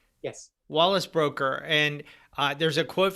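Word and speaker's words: Broecker: climate scientist wallace broker is that how you pronounce his name yes wallace broker and uh there's a quote from him that's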